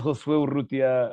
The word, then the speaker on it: Urrutia: Yeah, my name is Rutia.